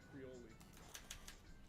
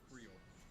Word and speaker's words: Creole: Creole. Is that how you say it? No, that is now how we say it. Okay, well, how do you say it? Because I am right. No, it's Creole.